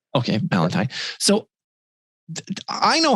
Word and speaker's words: Ballanti: so tell me like valentine that's that's the way you say it right yeah you got it okay valentine so i know how